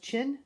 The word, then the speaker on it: Qin: they tried really hard this was pronounced chin the Qin Dynasty 221